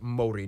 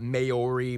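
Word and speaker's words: Māori: Korea and Japan yes by the way it's pronounced Mori not mayori Mai they use the New Zealand dollar as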